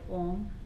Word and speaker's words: Om: Now we'll all say the word Om 3 times together, very meaningfully, so that the vibes are good for the body, mind and spirit. So you want to round your lips for the syllable O.